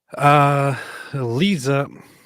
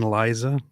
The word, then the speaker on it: Liza: So, Lisa. Okay, wait. You just said Lisa like Lisa Minnelli. Do you mean Liza?